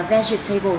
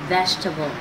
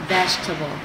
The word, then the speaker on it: vegetable: các bạn đọc là vegetable từ này gồm có bốn âm tiết trên thực tế thì từ này chỉ có ba âm tiết thôi và người ta đọc là vegetable vegetable với một cái chữ